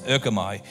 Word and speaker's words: erchomai: That word come in Acts 1:11 in Greek, and I'm not very good at pronouncing Greek unless his name is George, okay, is erchomai, E-R-C-H-O-M-A-I.